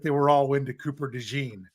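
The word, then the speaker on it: DeJean: were all into Cooper dein right dein not Deon I think it's the right way to say it yeah um and maybe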